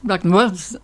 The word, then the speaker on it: Ragnar: And he goes, Ragnar, and it does bear no relationship to how we would pronounce it. The emphasis is very different. It's to do with the emphasis.